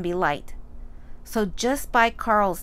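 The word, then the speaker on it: Qarl: a r l but George has chosen q a r l q making theq sound adding ARL you get a new word quarrel which by definition means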